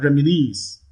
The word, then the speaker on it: reminisce: and then look at reminisce knees the last syllable knees receives the primary stress here so that is